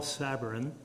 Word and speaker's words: Sabourin: Yes, my name is Sabourin, for those that do understand French and can pronounce it.